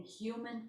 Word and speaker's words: Hum: Mani helps you reconcile your awareness to unconditionally accept your perfect divine nature in human form. You are of God and on the earth. Padme is spelled P-A-D-M-E.